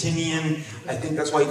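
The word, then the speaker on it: Tynion: I've been told it's Tinian, it's Tinian.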